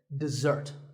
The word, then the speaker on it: dessert: with a Z sound we stress the second syllable dessert this word refers to